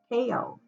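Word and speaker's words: pueo: two it is owl or how it's said in um hawaiian owl is pao and the message on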